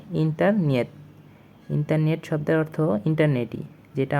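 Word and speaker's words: интернет: এটা রাশিয়ান ভাষায় বলা হবে ইন্টারনিয়েত। ইন্টারনিয়েত একটু মডিফাই করে ইন্টারনেটকে ওরা বলে ইন্টারনিয়েত।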